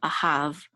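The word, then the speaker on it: אָהַב: vet, which is hav, a hav. And this is the accent mark at the last syllable, ahav.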